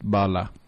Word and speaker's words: bala: what it's translates to yes a bullet is pronounced Bala and in Spanish right yep yeah so kind